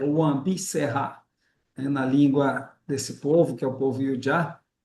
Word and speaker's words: Wã Bi Sehá: A pronúncia, Sabina, é Wambi Serra, né?